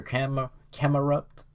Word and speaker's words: Camerupt: She sends out her Camerupt, or yeah, that's how it's pronounced.